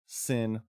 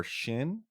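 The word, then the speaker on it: Xin: spelled x i n pronounced either sin or Shin depending on dialect I found I kind of I'm going to go with sin because I feel like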